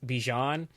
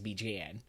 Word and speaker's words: Bijan: The American way to say my name is Bijan. The Persian way to say my name is Bijan.